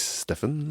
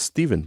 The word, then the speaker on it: Stephen: On prononce Steven, hein, je pense. Steven, c'est ça. Même si tout le monde, les Québécois, disent Stephen.